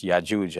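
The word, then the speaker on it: يأجوج: But in the Hebrew, the Jim is pronounced with, it's a hard G. So Gog and Magog, whereas in Arabic, it's the soft G, like in George. So it's Ya'juj and Ma'juj.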